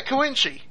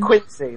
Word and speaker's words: Koinchi: CJ, with me, and I am Koinchi with a K. Bea? Is that how it's pronounced? Yeah, Koinchi. I thought it was pronounced Quincy, like, Quincy Jones. Oh, no, I've always pronounced it Koinchi.